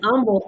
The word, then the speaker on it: Humble: the coordinator of in humble isd that h is silent and um i have